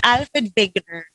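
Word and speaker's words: Wegener: drift was proposed by Alfred Veer will you pronounce it as vigner so Alfred vigner he was the on who proposed a theory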